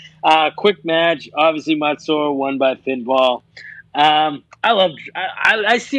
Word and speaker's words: Mansoor: Mansoor, yeah.